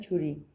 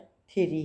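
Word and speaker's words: theory: थेरी, नज़रिया, बाद लोग इसे प्रोनाउंस करते हैं थ्योरी, लेकिन ये वर्ड थेरी है, ठीक है।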